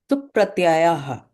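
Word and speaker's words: सुप्प्रत्ययः: Supratyayah. See, dirgha is there, okay? Supratyayah. Supratyayaha. Supratyayah. Not yaha, yaha. Yaha. Oh, Supratyayah. Is Yaha. Make it long.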